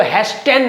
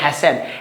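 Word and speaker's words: hasten: हैसन word का मतलब, इसको हैस्टेन नहीं पढ़ते, टी साइलेंट होता है यहाँ पे, इसको पढ़ते हैं हैसन।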